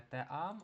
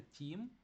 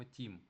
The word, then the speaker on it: team: І, до речі, бачите, слово команда читається не теам, а читається тім. Тому що еa читається як і, і тому читаємо team.